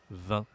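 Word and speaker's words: vingt: dans 2 et 3 20. On ne prononce pas le G et on ne prononce pas le T non plus.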